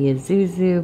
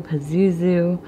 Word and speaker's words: Pazuzu: it's a demon and depending on where or how people pronounce the name it could be Isuzu Pazuzu usually I've heard it without the p and this is you